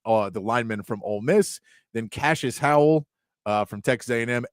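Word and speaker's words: Cashis: And uh Cashes, I like that name, too. Cashes as well. Cash is spelled C A S H I S.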